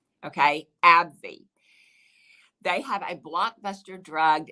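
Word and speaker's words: AbbVie: zeroed in on abbv now this uh brand is spelled this way abb capital v i e okay abby they have a blockbuster drug known as humera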